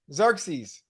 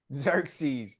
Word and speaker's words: Xerxes: dude right yeah how you say it yeah xeres Xerxes yeah Xerxes yeah my list way better my list way